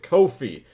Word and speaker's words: Ko-fi: Cody's Car Conundrum with Ko-fi. Well, it might be coffee, but it's spelled K-O-F-I, and that's weird, so I say it Ko-fi.